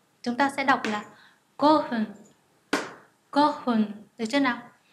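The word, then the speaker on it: 五分: Ví dụ 5 phút chúng ta sẽ đọc là go hun, go hun, được chưa nào?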